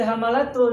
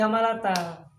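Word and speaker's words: حَمَّالَةَ: Nah, lalu pertanyaan, kenapa tidak dibaca hamalatul dalam ayat ini, tapi hamalata?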